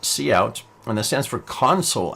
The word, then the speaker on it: cout: Well, it's pronounced cout, and that stands for console out, because when